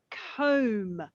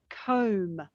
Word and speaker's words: comb: said a come the difference is come and comb and the bee is silent so come comb come comb yes there is that is silent